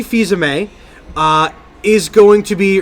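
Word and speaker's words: Fils-Aimé: you pronounce his surname it's Reggie by Sammy feyza may feyza may reggie fils-aime a is going to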